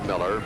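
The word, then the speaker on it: Mueller: rolling in for him his name was spelled mu he ll er 6 feet you to pronounce Miller we went on the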